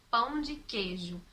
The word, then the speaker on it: queijo: Então é muito comum, como palavras, por exemplo, como pão de queijo, a gente pronunciar pão de queijo, sem falar a vogal I.